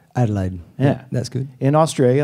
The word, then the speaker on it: Adelaide: brothers in the band from Adelaide am I pronouncing it right Adelaide yeah that's good in Australia in the south